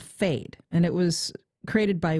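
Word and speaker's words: Phade: easy to use and they're called fade and that's spelled p-h-a-d-e tell us about this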